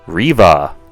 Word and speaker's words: Reva: Inquisitor in the set you have Reva or for some reason they pronounce it Riva in the show here she is same